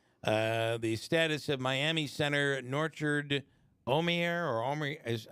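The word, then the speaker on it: Norchad Omier: The status of Miami center Norchard Omier is, how do you say that? You're pronouncing it right.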